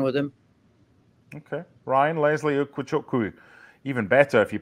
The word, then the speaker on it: Ugochukwu: Ryan, Leslie Ugochukwu. Even better if you pronounce it correctly. Ugochukwu from Rennes, 27 million.